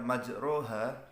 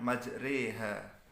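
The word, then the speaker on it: مجراها: kholaq Thoha di WA Emang tulisannya majroha tapi dibacanya majreha Karena memiringkan Alif kepada Ia yang kedua adalah ismam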